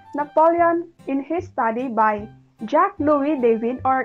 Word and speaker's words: Jacques Louis David: Example, Napoleon in his study by Jacques Louis David, or in French it is pronounced as Jacques Louis David.